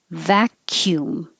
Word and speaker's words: vacuum: Vacuum. It doesn't look like it, but the C sounds like a K, and then there's a Y. Vacuum, cume.